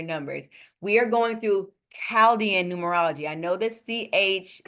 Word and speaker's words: Chaldean: But in this specific ancient society, the Caldian society, they they didn't acknowledge that H. Okay. So, it's pronounced Calaldian.